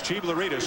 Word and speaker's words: Chiblaridis: And you look at the way his name is spelled. It doesn't look anything like Chiblaridis, but it's Chiblaridis or Voss again. It's the easiest way to say it.